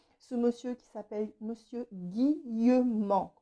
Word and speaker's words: Guillemant: Voilà, je vous embrasse bien fort mes amis et n'oubliez pas ce monsieur qui s'appelle Monsieur Guillemant, comme ça se prononce A-N-T, et vous allez découvrir un trésor.